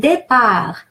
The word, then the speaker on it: départ: And départ, A is pronounced A, like in the word egg, because